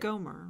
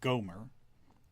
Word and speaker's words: Gomer: No, because that would be how you said it in Hebrew, because the accent's on the second syllable. We say Gomer. She would have said Gomer.